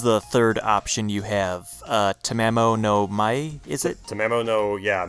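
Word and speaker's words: Tamamo no Mae: Tamamo no Mai, is it? Tamamo no, yeah, Mai. I think, yeah, it is like Mai, like the way you would pronounce that.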